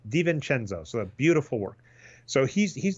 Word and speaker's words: DiVincenzo: Pronunciation is it's DiVincenzo.